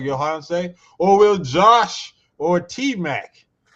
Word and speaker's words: Yohance: It's Yohance. I'm pronouncing that right?